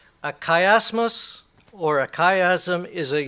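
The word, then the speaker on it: chiasmus: c h i a m u s a kiasmos or a kaym is a series of inverted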